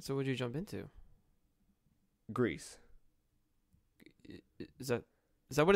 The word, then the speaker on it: Gris: How do you say gray in Spanish? Gris. There you go. That's how it's pronounced.